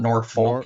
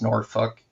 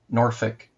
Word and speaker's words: Norfolk: It's not Norfolk. It's Norfolk. Norfolk. They say Norfolk. Yeah. Like they they don't pronounce the L.